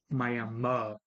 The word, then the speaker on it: Miami: no just making sure it was saying Miami yeah with a uh at the end instead of the eye Miami got it by the